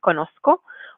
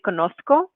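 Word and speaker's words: conozco: exist in spanish so either you're going to be pronouncing like more like an s sound like i do with conosco or if you are um wanting to train more of a spain spanish accent they pronounce this letter the the seta as feta or like a th sound so you say konosko okay so that's going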